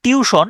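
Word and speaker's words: tuition: এখানে ভুল হয় যেমন টুইশন আমরা উচ্চারণ করি টিউশন কিন্তু বারণটা খেয়াল করেন বারণটা হচ্ছে টি ইউ আই টি আই ও এন টুইশন টুইশন উচ্চারণটা এভাবে করবেন টুইশন তাইলে আইটা যে মাঝখানে আছে এটা মনে থাকবে আমরা এটাকে বলি টিউশন উচ্চারণটাও টিউশন কিন্তু আপনি যদি এই শব্দ শব্দের বর্ণ ধরে উচ্চারণ করতে চান সে টুইশন হয় ঠিক আছে সিলিং সিলিং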